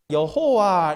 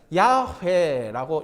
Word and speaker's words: 야훼: 그래서 그 발음을 할 때에 야훼라고 하기도 하고 여호와 이렇게 발음하기도 합니다. 그런데 우리가 가진 성경에는 그냥 여호와 이렇게 발음합니다만은 또 이것을 발음할 때 이스라엘 백성들은 히브리어로 발음할 때는 야훼라고 이렇게 발음해요.